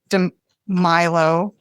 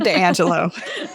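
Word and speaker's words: DiAngelo: Robin DeMilo. Shit, I just got her name wrong. Sorry. It's okay. She's not listening. Okay. Robin DeAngelo. Perfect.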